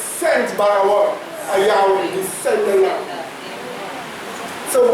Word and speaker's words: Yahweh: Let me pronounce it, watch. Yahweh. I say the V. Now I say the W. Yahweh.